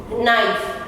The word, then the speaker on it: knife: Knife, आपने बहुत ये वर्ड यूज किया है. न से साउंड स्टार्ट होती है लेकिन K साइलेंट है.